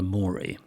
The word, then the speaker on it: mori: Well, I think he would have said Dulce et decorum est pro patria mori. And the mori has to rhyme with glory, of course.